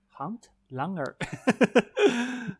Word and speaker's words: handlanger: It is called handlanger. Hunt Langer. Yes, well done on the pronunciation.